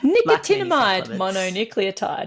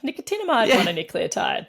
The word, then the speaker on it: nicotinamide mononucleotide: it and the supplement is is hard to pronounce nicomide mononucleotide what are you talking about nicotinamide mononucleotide Cy even the even the shortening of nnn